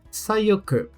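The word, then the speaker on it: さよく: E sayoku.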